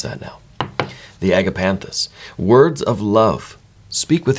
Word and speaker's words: agapanthus: it's the agapanthus I I know how to pronounce that now the agapanthus words of Love speak with your heart when